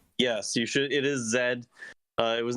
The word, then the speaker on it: Z: game is z or Zed I we should say Zed since we're talking about Pal games yes you should it is Zed uh it was not